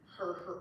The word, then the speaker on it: herb: Herb. Why don't we say herb? Why don't we pronounce the H?